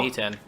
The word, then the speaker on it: Niten: So I have Knight and Adept, Niten. I believe. Niten? Wow. Niten. Pronunciation. Ni as in the Japanese word for 2, ten the word for heaven, 2 heaven style.